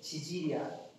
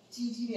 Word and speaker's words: 지질: 안 하고 지질이라고 얘기했지 발음 잘해야 돼 지질이야 찌질이 아니고 알았지 지질 팩이라고 보통 부르는